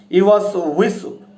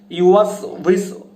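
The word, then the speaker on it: يُوَسْوِسُ: ইউওয়াসউইসু, ওয়াওটা উচ্চারণ হয় হচ্ছে 2 ঠোঁটের মাঝখান থেকে হালকা একটু ফাঁকা করে আমরা ওয়াওটা উচ্চারণ করি, ওয়াও, উই, উ। তাহলে দর্শক দেখুন উচ্চারণটা হবে কিরকম, ওয়াসউইসু, ওয়াসউইসু, ইউওয়াসউইসু, ইউওয়াসউইসু।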